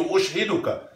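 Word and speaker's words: أشهدك: Allahumma inni amsaytu, ushhiduka. Allahumma inni amsaytu, ushhiduka. Ush, ush. Make sure you get that. Ushhiduka with the sukun.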